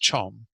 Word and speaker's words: chom: front of us that have a B and then a capital C and then an OM. It means that C is the main letter. The B, or the Ba, is a prefix that isn't pronounced. The prefixes and suffixes are never pronounced. The subscripts and the superscripts sometimes change the pronunciation, but nonetheless, anyway, that's why it looks really weird. This is pronounced chom.